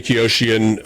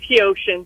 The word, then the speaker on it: Kosian: Visiting with Koshian. Um and forgive me if I mispronounced your name with Samaritans Purse. You're welcome to correct me if I mispronounced that. It's Kosian. You did very good.